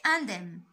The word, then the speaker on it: indemne: Les autres sont sortis indemnes. Un journaliste rapporte ces faits. Que dit-il? Donc faites attention ici هاد لو مو كيتنطق indemne يعني سالمين يعني les autres sont